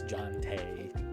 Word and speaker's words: Jonte: I'm like, John as in Jonathan, Tay as in Taylor.